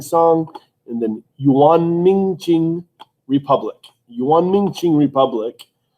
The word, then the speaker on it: Qing: And then Yuan, Ming, Qing, Republic.